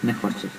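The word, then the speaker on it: נחושת: Y Nehoshet lleva una Vav, pero se vocaliza como una U. Nehoshet.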